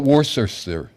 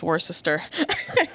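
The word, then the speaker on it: Worcester: How about Warser? Nobody says Warsister.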